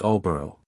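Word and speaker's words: Aldborough: fools alboro in Yorkshire now alboro is always pronounced Alor but this Feast was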